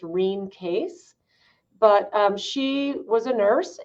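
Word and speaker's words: Rene Caisse: it was formulated by this Canadian nurse named Renee Casey, or her name was actually pronounced Reen Case.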